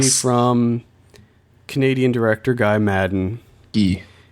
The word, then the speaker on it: Guy: Gee, G. Canadians, Canadians pronounce Guy as Gee, like G E.